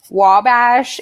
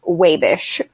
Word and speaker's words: Wabash: Also, it is not actually Wabash. If you're from Wabash, it's pronounced Wabish.